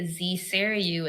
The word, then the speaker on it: zSarayu: that people pronounce it, when they say zSarayu, it's like they're saying zSarayu, like see Sarayu, see the Holy Spirit, see God, Yeah.